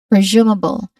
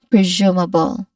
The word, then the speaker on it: presumable: a long oo vowel sound. So we say it as zu again zu. Next to that is m m with awah sound. We're familiar with that. It's light. It's soft and then stressed. And it ends with bull with which all we also we where we which also be very familiar light and brief. All in all we try to combine them together we get presumable.